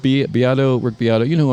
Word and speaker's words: Beato: The guy, that was my observation, and the guy I just saw on the work, it's pronounced Beato, Rick Beato.